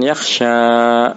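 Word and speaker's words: يخشى: Tapi kalau lan yakhsha ya selamanya yakhsha ya, yakhsha ya, sekalipun dia didahului oleh huruf nasab tetap bacanya yakhsha, karena yang namanya alif tidak mungkin kita kasih harokat. Kalau alif dikasih harokat bukan alif namanya hamzah.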